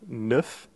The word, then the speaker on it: neuf: 9, And for the number 9, neuf, is a fairly simple sound as well. If you think of the word nefarious, which has NEF at the beginning, if again you just take the beginning of that word, neuf, and leave off the rest, you'll have the correct sound.